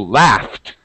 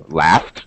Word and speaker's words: laughed: ends with uh F but that GH makes an F sound so we're thinking about the sounds not not the actual letters so laughed yes laughed pass I I laughed